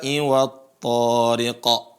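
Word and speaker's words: الطارق: Nah, teman-teman seringkali juga membaca di sini huruf ra-nya dibaca panjang. Was-samaa'i wat-tariq. Wat-tariq. Itu enggak. Ra-nya pendek ya.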